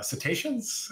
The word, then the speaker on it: cetaceans: whales and dolphins the uh uh cetaceans is that how to say it yes okay good uh i always say